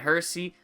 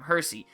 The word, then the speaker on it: Hersey: I said it right this time, Hersey. I have a hard time saying that with my accent. It just doesn't roll off the tongue as Hershey would.